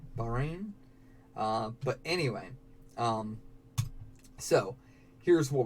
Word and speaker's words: Bahrain: how to pronounce that I always thought was Baha rain but it is just boring right Bahrain but anyway so here's